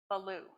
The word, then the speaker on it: Ballou: of all time Hosea Baloo we've been arguing about how to say his last name but we say Belo in America and something else in Spanish but Hosea is the